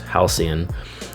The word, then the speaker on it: Halcyon: lot of people get stuck on the word Halcyon that is how it's pronounced Halcyon and it means a time in the past